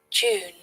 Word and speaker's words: June: your pronunciation if you like to develop your pronunciation to standard British IPA. June.